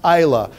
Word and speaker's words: Islay: It is pronounced Isla.